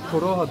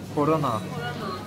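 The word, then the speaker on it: Корона: Yaban mersinli çikolata, sen seviyordun, bak Bu nasıl okunuyor, Koroha diye mi? Korona (Gizem biraz Rusça biliyor) Bu Ukraynalılar ve Ruslar P'yi R diye okuyorlar. Şu H gibi olan harf de kiril alfabesine göre N harfi.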